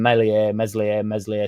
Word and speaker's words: Meslier: I spoke to Luke last night, and he thinks Darlow stays second and Meslier, Silent S gets moved on.